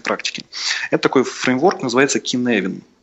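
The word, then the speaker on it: Cynefin: Это такой фреймворк, называется Kinevin. Он пишется совсем не так, как слышится. Вот, пишется Kinevin через Y.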